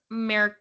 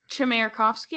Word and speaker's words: Chmerkovskiy: Max Merkovsky, I guess. Chmerkovskiy. Chmerkovsky. I was like, what's silent? Something's got to be silent. Nothing is silent.